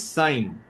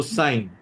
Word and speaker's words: sine: The basic trigonometric functions are first one is sine beta is n s how will you pronounce it? It's s i n e. Don't pronounce it as sin or any s or anything.